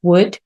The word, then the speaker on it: would: Recuerda que solo se pronuncia la primera, la tercera y la quinta, would.